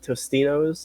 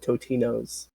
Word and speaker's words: Totino's: I know there are two types of people: people that pronounce it Tostinos and people that pronounce it Totinos. I'm a Totino's.